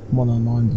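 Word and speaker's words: Monomon: The elegy from Hollowness by Mononon the teacher. See, that's how you pronounce those names.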